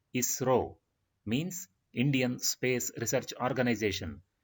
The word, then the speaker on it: ISRO: Here we pronounce this abbreviated form as ISRO, means Indian Space Research Organization.